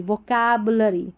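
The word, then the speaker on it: vocabulary: भी पढ़ सकते हैं यू का उच्चारण देखिए अ और उ करके दोनों आ रहा वोकैबलरी वोकैब अगर प्रेफर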